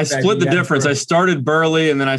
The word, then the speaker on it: Burleigh: pronunciation of my name it's burley like a football player not berlin good good i love